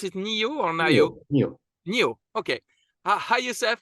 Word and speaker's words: NIO: Do we pronounce it NIO or NIO?